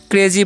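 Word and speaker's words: crazy: क्या होने वाला है, तो लिखा हुआ सी आर ए जेड वाई, तो इसे हम क्या पढ़ते हैं, इसे हम लोग पढ़ते हैं क्रेजी, क्या पढ़ते हैं, क्रेजी पढ़ते हैं, ठीक है। आई का उच्चारण यहाँ पर वाई का दीर्घ हो रहा है, ठीक है।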